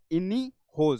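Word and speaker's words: Iniochos: थोड़ा सा मुश्किल होगा बट इसको प्रोनाउंस कैसे किया जाता है इनी होज सी थोड़ा सा साइलेंट आए सो ये जो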